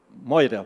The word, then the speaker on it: Moira: Esse Meure aqui, na realidade, são de famílias, provavelmente, que chegaram em São Pedro de Alcântara. Moira, quer dizer, a pronúncia seria Moira, né? Nós popularizamos para Meure, né?